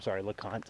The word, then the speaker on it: LeConte: So one more thing that's neat that LeConte has, LeConte, I keep wanting to call it LeConte, this is how it's spelled, has to offer is the LeConte Lodge,